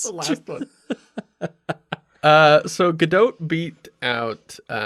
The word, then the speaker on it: Gadot: in december of 2013 gal gadot that's how she pronounces it i got shit about